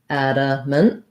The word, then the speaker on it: adamant: to the next syllable the second a is a schwa unstressed adamant and then we really basically don't say this last a we just go right from the m to the n min um and that